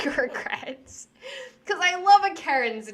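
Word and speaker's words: Acheran: through better and my other character's name is Karen spelled like this a-c-h-e-r-a-n and it sounds like a Karen during the time when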